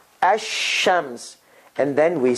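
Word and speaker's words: الشمس: shadda on it hashems so what happened here lam goes away ash ashams and then we said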